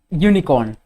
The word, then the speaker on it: unicorn: all right moving ahead unicorn unicorn u again y u does a okay i hope this